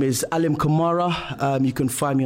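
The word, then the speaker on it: Alim Kamara: See that way you remember the rhyme. Alim kamar. I'm leaning on the camera.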